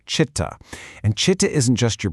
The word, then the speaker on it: Citta: That's pronounced Citta.